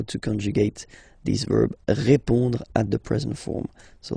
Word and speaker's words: répond: So, final D is not pronounced. You will only have this on nasal sound at the end. Répond.